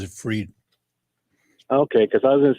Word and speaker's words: Fried: his last name is I pronounce it as fried but they call him freed yeah I think he pronounces it freed okay because I was